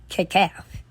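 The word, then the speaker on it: Kecalf: it right, it's called Kekaf. K-E-C standing for Kenneth Edward Cunningham, and then A-L-F for Aretha Louise Franklin, pronounced Kekaf.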